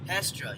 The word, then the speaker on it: Hestra: Is that how you pronounce it? Hestra. Hestra, yeah.